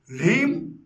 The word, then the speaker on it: ह्रीं: ह्रीं होठ नहीं मिलने चाहिए, उच्चारण होना चाहिए ह्रीं। हाँ में आधा ला मिला हुआ है।